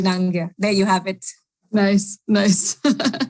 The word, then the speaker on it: Nangia: And the last name is Nangia, which most people pronounce as Nangia, but it's incorrect. So it's Nangia.